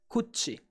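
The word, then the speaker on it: 口: pronounce mouth in Japanese the kun reading is kuchi and how could we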